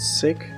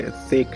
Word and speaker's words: thick: So the wood to the north is sick. Not sick like unhealthy, thick like TH.